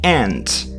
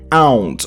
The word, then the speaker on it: aunt: So, the pronunciation of this word is interesting. You say aunt. It's not aunt or whatever it could be when you look at the word.